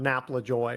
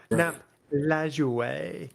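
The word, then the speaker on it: Lajoie: you know, questions about napla joy or something like that or nap lure if you want to say it correctly in.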